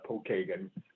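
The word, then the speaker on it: Pokagon: oh thank you yeah it's uh actually we pronounce it uh paul kagan uh so i imprints pokemon padawan in the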